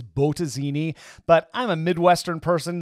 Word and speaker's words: Bottesini: weeks by the way i'm pretty sure the correct pronunciation is botazini but i'm a midwestern